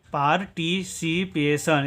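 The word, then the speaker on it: participation: ठीक है, TI का उच्चारण करेंगे टी, CI का उच्चारण करेंगे सी, PA का उच्चारण करेंगे पे। ठीक है, और TION का उच्चारण करेंगे सन। ठीक है, पार्टिसिपेशन इसका उच्चारण करेंगे पार्टिसिपेशन।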